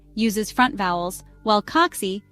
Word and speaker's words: kaksi: Almost always the first syllable of the word is stressed. That's it. No complicated rules or exceptions to remember. For example, kaksi, 2, and kirjasto, library, are both stressed on the first syllable.